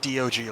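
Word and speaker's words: Dioge: And it's specifies it's pronounced D O G like you're spelling it.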